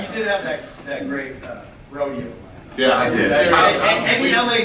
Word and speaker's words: Rodeo: Batman, you did have that great rodeo. Yeah, I did. Any LA natives can appreciate it. How do you pronounce R-O-D-E?